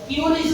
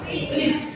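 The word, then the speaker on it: QRIS: Ah, banyak-banyak yang salah membacanya bukan curis ya anak-anak sekalian. Bacanya apa? Kris ya. Bacanya Kris.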